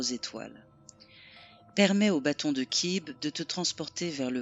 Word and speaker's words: Cib: Glyphe des étoiles, l'archétype maya Kib. Prononciation Kib.